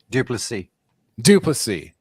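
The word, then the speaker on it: du Plessis: Duplessis.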